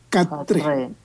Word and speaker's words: quatre: Se escribe cuatre, pero se pronuncia catre.